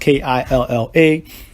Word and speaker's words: Killa: Killa is pronounced Killa.